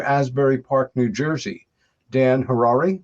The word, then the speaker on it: Harary: Uh born and raised near Asbury Park, New Jersey, Dan Harrari, which rhymes with Ferrari, which he does not have but may someday.